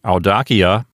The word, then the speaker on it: audacia: Let's move on now to audacia. Let's divide it into syllables. First, we have another diphthong. That's A and U together, and it says ow, like when you drop something on your toe.